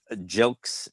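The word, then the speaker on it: Gilkes: Mass, near Boston, with Jerry Bergonzi and Marshall Jilks, it's pronounced.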